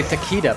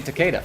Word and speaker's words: Takeda: video about how we everybody mispronounces his name and refuses because people say taquita but it's actually Takeda is it not uh